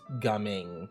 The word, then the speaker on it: Gaming: pronounced gumming.